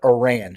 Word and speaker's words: Oran: I believe it's pronounced not Oran, but Oran, correct?